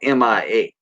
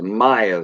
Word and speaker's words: Mia: Well, it's spelled Mia. Missy said it's Maya though. I still say Mia, but it's Mia.